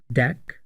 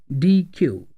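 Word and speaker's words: deque: version of Q is called DQ which is pronounced as deck or DQ it is a collection of homogeneous data items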